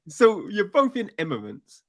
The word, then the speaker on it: Immanence: Immanence in Immanence. Immanence. It's a tricky word. It's Eminence.